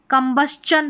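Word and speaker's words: combustion: अब जो है ना इसको शन पढ़ते हैं लेकिन यहाँ पर इस स्पेलिंग में कम्बस्चन पढ़ना है, कम्बस्चन यहाँ पर दे रखा उच्चारण।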